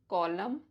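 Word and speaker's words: column: होता है चलो मैं बताती हूं एन E silent after M एट द एंड ऑफ a word जैसे ऑटम कॉलम हिम गवर्मेंट डम सोलम कंडेम अब कम से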